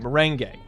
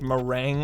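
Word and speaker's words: meringue: lot of them were say the last syllable gay uh cuz you got the first half right mering gay okay that's that sounds right that sounds familiar I I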